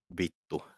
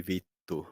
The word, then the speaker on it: vittu: It has to be vittu, How's that which is spelled?